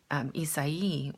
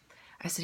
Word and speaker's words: Isai: And he was asleep, and I wake him up, and I'm like, Isai, which is how we say his name in Spanish. I said, Isai, have you seen the news?